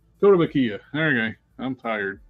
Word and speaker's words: Kotobukiya: How do you pronounce that? Kotobukiya. Kotobukiya.